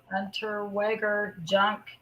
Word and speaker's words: Unterweger: But then it also brings up the other serial killer, whose name was, his last name is pronounced Unterweger Jack Unterweger.